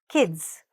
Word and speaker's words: kids: k i d s kids But when we say that, make sure the I don't stretch the I. Don't say E. Say kids.